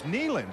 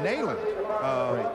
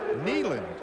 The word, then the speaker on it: Neyland: asked to make a power reference to its Neyland it's not nailing some people have called in said hey the announcers are saying that wrong but it's actually pronounced Neyland where's one of the great coaches that were